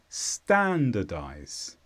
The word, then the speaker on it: standardize: verb and the stress is on Stan standardize and this is to